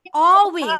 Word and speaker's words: always: should be silent here L should be silent here so you supposed to pronounce it like always okay again see তারপরে